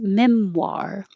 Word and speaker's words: memoir: have a prior engagement memoir this oir is war it's like saying are with a w so if you said how are you how are you that's the same war you need in memoir my personal memoir you